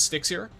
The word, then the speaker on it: Stixier: So I think originally it was Stixier, and then I liked it especially because when I say "What's up, guys," it's Stix here. It sounds like I'm saying "What's up, guys?" It's Stixier. And I intentionally pronounce it